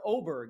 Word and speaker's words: Åberg: I don't think the motivation is 100% for him this week, but for Åberg, or Åberg is, I guess, how we are supposed to pronounce it now.